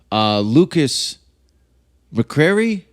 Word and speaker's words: Lukas McCrary: Lukas Mccrary?